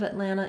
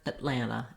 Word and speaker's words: Atlanta: ah any any longer it's not at atlanta but rather atlanta atlanta so that first vowel is very reduced very short may mean